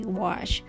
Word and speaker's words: gouache: But by learning from others, now I know how to say gouache.